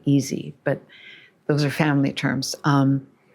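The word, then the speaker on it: Isi: Walla and Easy, I-S-I, Easy, but those are family terms.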